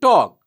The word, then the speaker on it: talk: In the first three words, that is walk, come, and talk, the letter L remains silent.